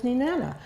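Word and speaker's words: Nenana: And Ninana was Ninana.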